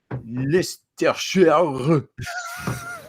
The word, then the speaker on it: Leicestershire: You will pronounce it Leicestershire.